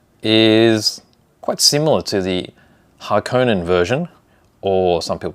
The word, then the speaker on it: Harkonnen: Now, the Atreides version of the ornithopter is quite similar to the Harkonnen version, or some people pronounce that Harkonnen.